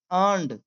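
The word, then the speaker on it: earned: नहीं बोलेंगे इसे, फाइनली अर्नड, अर्नड यहाँ आर साइलेंट है, इसे अर्नड बोला जाता है, अर्नड, ठीक है, अर्नड a place, place on the school team, school, school team, ठीक है।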